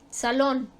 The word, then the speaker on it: salón: Salón, su sílaba tónica está en lon, la última sílaba, termina en N, por lo tanto se acentúa.